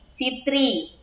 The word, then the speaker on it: citri: ejaan berikutnya huruf berikutnya huruf C jika bertemu dengan huruf e dan y akan merubah menjadi huruf s nah contohnya Cera diucapkan menjadi Sera Kenapa menjadi Sera karena tadi huruf C ketika bertemu dengan huruf e Ki dan Y maka huruf C akan menjadi huruf s contoh yang kedua citri menjadi sitri I can tell ketiga